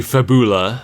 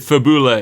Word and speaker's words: Fabula: So, now we're introduced to Fabula, our guide to Wonderland. Fabul. Yeah. I don't know. They pronounced it Fabula in the in the dub, so I'm going with that.